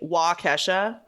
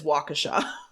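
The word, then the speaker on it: Waukesha: going to butcher it it's spelled I want to say wesa but it's wakasa I know it is W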